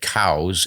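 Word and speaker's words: Coues: 70s or so and he pronounced his name cows but everybody looks at the spelling c o u s and says C so I've given up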